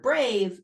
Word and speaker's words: brave: it's softening the C in the word brave it's making the a long and it's preventing the word from ending in a V it's a great multitasker